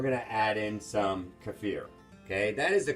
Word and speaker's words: kefir: But of course, I talk to my clients a lot, or we call it Kefir or kefir. Milk. But actually, the real way is kefir. It rhymes with career.